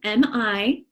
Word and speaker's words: mija: Mija is M-I-J-A. M-I-J-A. And it's pronounced mija. That is a different sound that we don't have in English very often.